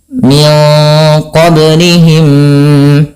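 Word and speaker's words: مِنْ قَبْلِهِمْ: Min qablihim, ya. Cara membacanya memasukkan mim yang pertama kepada mim yang kedua.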